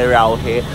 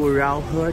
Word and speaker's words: Raohe: So ayun guys, so finally nakarating na kami ngayon sa my Raohe. Pero hindi nila yung pronounce as Raohe, instead it should be Raohe. Yun ang kanilang pronunciation.